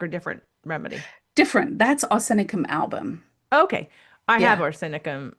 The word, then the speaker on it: arsenicum album: And arsenicum album is can be phonetically it's arsenicum Yes, arsenic arsen arsenic.